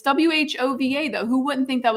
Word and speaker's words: Whova: If you don't want it to, if you don't want me to pronounce that W, why'd you put it there? Just have the H.